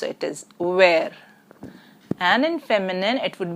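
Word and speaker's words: vert: in French is well T as a consonant in the end is not pronounced it is where and in feminine it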